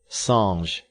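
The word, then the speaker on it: singe: in the same way he was taught to pronounce ape songs and tree arb he was a most eager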